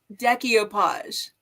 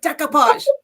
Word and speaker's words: decoupage: can't resist watching, but she says decoupage. And it drives me insane. It's like decoupage. Don't put that extra syllable in there.